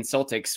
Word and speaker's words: Celtics: And even academics who want to call them Celts still would call the Boston Celtics or rugby or soccer team still pronounce it with an S.